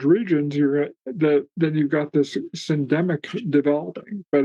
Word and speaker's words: syndemic: Yeah, I learned a new word from your work, which was, I think it's pronounced syndemic.